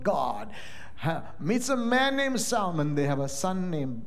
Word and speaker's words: Salmon: do you spell salmon s-a-l-m-o-n the L is silent but in Jewish genealogy genealogical names there's a male name s-a-l-m-o-n but the L is not silent it's salmon so I'm